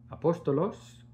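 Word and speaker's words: ἀπόστολος: Todas las palabras tienen un numeral, tienen un numerito y tienen una interpretación, una pronunciación en griego y una interpretación. En este caso, apóstol, eh, se dice apóstolos significa emisario, oficio de emisario o de apóstol.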